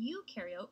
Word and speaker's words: eukaryote: And to help me remember some more differences in this next part, I like to remember that pro in prokaryote rhymes with no, and eu in eukaryote rhymes with do.